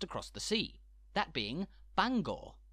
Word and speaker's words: Bangor: the sea that being Bangor spelled exactly the same but which derives from Welsh and as such is pronounced slightly differently Bangor of course the impact